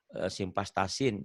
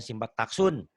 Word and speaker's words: simvastatin: Itu atau simvastatin, bacanya simpaktaksun. Nah, itu Simvastatin.